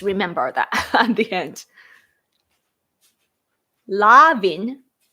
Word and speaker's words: Levin: Levin. Oh, it's Levin, but Lavin. The pronunciation is Lavin.